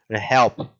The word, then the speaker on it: help: Help, help, help. E o E é bem como se fosse um A, tá?